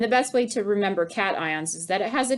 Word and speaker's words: cation: this is written and it looks like cajun i understand that but it's really pronounced cat ion and the best way to remember cations is that it has